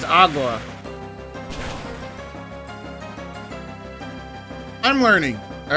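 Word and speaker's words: agua: I want to drink I would just say AWA at least that's at least I think that's how you say water in Spanish how you pronounce it anyway it's AWA I'm learning all right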